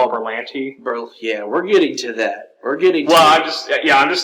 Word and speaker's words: Berlanti: Berlanti.